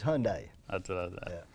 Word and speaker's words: Hyundai: It's Hyundai. That's what I thought. Yeah, that's the way we pronounce it.